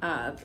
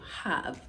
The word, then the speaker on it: have: age is gone but you're supposed to say how have if you have the age Factor you tend to say ah instead of have right now the h